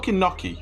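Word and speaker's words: gnocchi: Sam don't be me I agree with swords pronunciation well that's that's wrong it's an Italian dish it's called naki right listen go watch like a toe and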